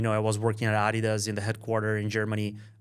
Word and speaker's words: Adidas: it exactly sorry uh people in the US or other countries say Adidas and and Germans say Adidas yeah yeah know everyone